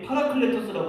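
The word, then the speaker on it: παράκλητος: 이 보혜사라고 하는 말이 파라클레토스라고 하는 말이에요. 우리 예서가 한번 따라해봐요. 파라클레토스. 네, 예서. 내가 발음이 좀 안 되나요?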